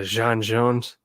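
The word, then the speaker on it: J'onn J'onzz: to pronounce it right his name is john it's jean yeah jean jones that's probably why my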